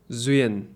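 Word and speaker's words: duyên: Le truc, c'est qu'en vietnamien, il y a un mot, j'en ai parlé dans mes autres podcasts, qui se prononce « zuyen ».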